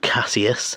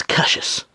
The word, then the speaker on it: Cassius: his name he said it's not Casius it's Cassius it's Cassius and that